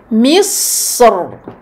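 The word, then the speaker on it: مصر: Comme dans les mots misr. Misr. Ou alors al-qitr. On voit ici dans ce paragraphe que l'imam Ibn al-Jazari a fait le choix de prononcer de manière emphatique le ra dans misr.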